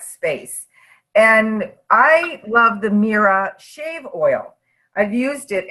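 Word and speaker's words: Mirah: just out of this world okay um it's pronounced Mira and if you have read the one gift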